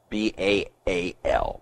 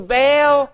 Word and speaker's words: Baal: sacrifice hence sacrifices to baal b-a-a-l why that's pronounced baal i don't know but sacrifices to baal